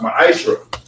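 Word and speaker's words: מעשר: It's pronounced ma'ashra.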